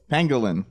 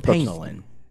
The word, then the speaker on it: pangolin: Pangolin. Okay, just making sure. Pangolin.